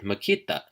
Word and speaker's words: makita: hidden glottal stop so when you see the word Makita which means to see something it may be easier for you to pronounce it as though it was spelled Makita but without touching your tongue to the roof of your mouth for the final key it's critical to